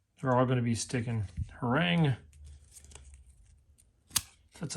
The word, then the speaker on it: Harang: They're all going be sticking Harang.